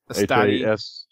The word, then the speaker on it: Hastati: Sounds like Astati.